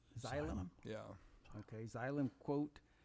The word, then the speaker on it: Xylem: It says replace the new, and how do you pronounce that name? Xylem. Xylem?